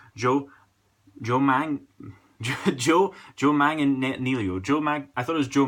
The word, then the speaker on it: Manganiello: about last week, was Joe, I'm going to pronounce his name correctly, Joe Manganiello.